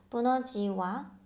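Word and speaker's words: Bună ziua: 부너지와, 부너지와. 여기 보시면 알파벳 E하고 U가 있죠? 이 U 빨리 발음하면 U처럼 발음이 돼요. 그래서 부너지와 이렇게 하실 필요 없고 부너지와, 부너지와 라고 말씀하시면 됩니다.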